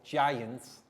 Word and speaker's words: giant: earlier on the board giant soft g pronounced like j so let's practice the